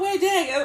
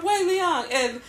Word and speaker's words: Wei Liang: Yeah, he's like, I'm not Wei Dang, I'm Wei Liang, and he's always, trying to get the quiet one to open his mouth and speak.